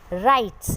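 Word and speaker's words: writes: राइट्स, इसमें W की sound नहीं आ रही है, सो you have to underline it.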